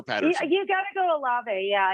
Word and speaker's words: Olave: You got to go Olave. Yeah, you got to go Olave. Why don't more people just call him Olave? Oil of Olave. Yeah. That's how his family's name is pronounced.